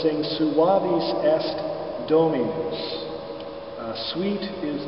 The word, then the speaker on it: suavis: to make is on the word suavis uh the accent again is on the second syllable but in this case